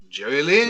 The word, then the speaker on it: Jerry Lynn: James, you didn't say his name correctly. It's Jerry Lynn.